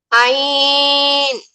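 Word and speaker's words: عين: একদম গলার ভেতর থেকে আসবে। হ্যাঁ, কণ্ঠনালীর মধ্যখান চেপে পড়তে হবে।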